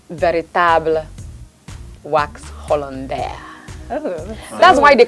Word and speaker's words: Hollandais: I've just been You said embarrassing Hollandis. myself the whole time. The French word is Hollandais, but people call it Hollandis.